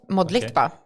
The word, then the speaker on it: Modlitba: The hard part is pronouncing it just the way it's spelled. Modba.